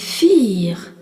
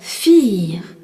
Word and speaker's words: vier: Le nombre 4 se dit vier. V-I-E-R, vier. Et on rencontre encore le V qui se dit feu et le I suivi d'un E qui est un I long.